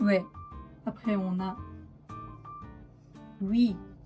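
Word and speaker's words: ㅟ: Après, on a oui. Oui, comme en français, hein, oui.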